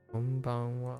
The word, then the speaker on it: こんばんは: Watch out for that wa on the end or ha on the end, which is pronounced wa here.